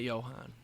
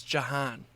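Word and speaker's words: Jahan: back the end zone it's not Johan yeah it is it's Johan it's Jan it's Johan do they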